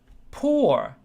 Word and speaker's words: pour: Pour. I pronounce it the same way. Pour, pour. Some places they do it a little differently. But for me, you're poor.